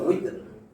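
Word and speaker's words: وتر: এই যে আমরা বলি বেতরের নামাজ, বা নিয়ে আসতেছি সব জায়গায়, এটা উইতর। ওয়াও জের উইতর, আমরা বলি না বেতের, তো সেরকম বা লাগাইছি যে তানবিন।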